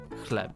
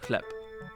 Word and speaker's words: chleb: Is a B low-key pronounced like a P? In Polish, a letter B is typically pronounced like a B. However, it is pronounced like a P due to a rule called final obstruent devoicing, whatever that means.